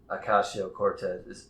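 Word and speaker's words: Ocasio-Cortez: Yeah, but um, but what I have to say to that is Ocasio Cortez.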